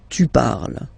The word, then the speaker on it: parles: So you've got the two first forms, you pronounce them the same way. You write them differently, of course, because you've got here, and then you've got and s, okay? But then phonetically, they are the same.